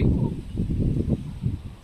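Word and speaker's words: ॐ: प्रदान चलिए ओम ओम तो ओम उच्चारण करने का सही तरीका है अ उ तीन होने चाहिए।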